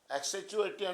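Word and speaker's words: accentuate: एक्सेचुएटिव क्या होता है आपका, किसी बात को विशेष रूप से उभारना या महत्व देना।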